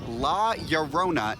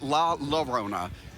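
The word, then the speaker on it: La Llorona: me in the comments it's pronounced la yorona not la la rona oops sorry oh well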